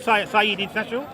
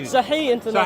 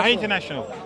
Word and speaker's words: Sahih International: Saeed International? How do you pronounce it? Saha International. Thank you. Sahih International. Sahih International.